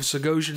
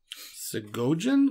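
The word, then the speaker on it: Segojan: s-e-g Earth caller sagogen I feel like the J would be a a y sound so go in go for a nice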